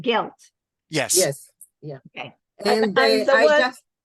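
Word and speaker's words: געלט: And sometimes in older books, you'll see it, and even in Yiddish spelled with a daled. But we pronounce it gelt.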